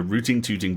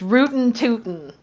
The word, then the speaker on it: rootin'-tootin': What if Dishonored and Desperados 3 had a rooting-tooting baby, then let it watch way too many horror movies? I'm sorry, darling, hold on. You can't pronounce the final G in a Western IND gerund. It's rootin'-tootin'.